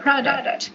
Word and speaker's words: product: So be careful guys with the pronunciation of the word product. Product. Product. Product. Okay? So you make emphasis on the first syllable.